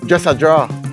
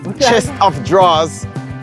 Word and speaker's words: chest of drawers: I never start understanding this until a te dress a drawer chest of drawers turned into yeah dress a draw here with